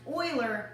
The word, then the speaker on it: Euler: spelled e U and we are but it's pronounced Euler not you also his name is spelled Leonard